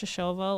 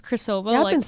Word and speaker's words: Shishova: didn't call it also I learned her name was pronounced shova like two weeks as opposed to what it's spelled cha yeah I thought it was chova she played for the White Caps I've been saying it chova shova it's cha y you